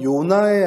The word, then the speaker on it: 요나: 요나는 히브리식 발음이고요. 이걸 헬라식 발음으로 하게 되면 요한이 됩니다.